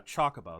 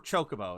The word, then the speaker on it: Chocobo: I don't know yeah Chocobo that's yeah it's Chocobo or chocoo like I I've heard it both ways and I love chocobos